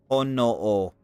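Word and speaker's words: ほのお: Honoo. A ho, one syllable, H-O. No, one syllable, N-O. And then another O. 3 syllables, and there's 3 symbols here.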